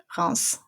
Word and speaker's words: Reims: So usually we don't pronounce the S at the end of a word, but this is a city and it's an exception. So Reims.